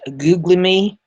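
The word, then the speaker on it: Guglielmi: Uh that is pronounced googly.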